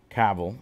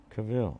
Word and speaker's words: Cavill: cavill's personal army henry cavill i keep calling him cavill but the pronunciation is like travel do you remember that video joe how do you pronounce cavill it's cavill so this might be